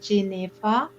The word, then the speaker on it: Jennefer: my name jennifer jennifer it's actually pronounced jay neva because whenever i speak